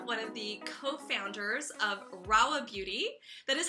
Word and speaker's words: Rahua: here with Anna one of the cofounders of rolla beauty that is how you pronounce it right you got it right okay